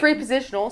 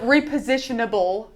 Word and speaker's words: repositionable: damage your floor right repositional sorry orb repositionable I get messed up on that you guys love to call me out on that repositional and repositionable excuse me for dropping that syllable but um it doesn't